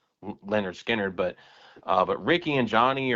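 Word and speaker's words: Lynyrd Skynyrd: before they officially recorded the first major album pronounced Leonard Skard.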